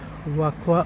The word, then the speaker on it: Vacoas: त्याचं spelling VACOAS असं जरी होत असलं तरी याचा उच्चार वाकवा असा होतो.